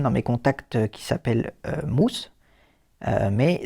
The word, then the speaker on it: Mus: une personne dans mes contacts qui s'appelle Mousse, mais ça s'écrit MUS, si vous voulez. Et donc, je veux par contre que ce soit pas prononcé mu, mais mousse.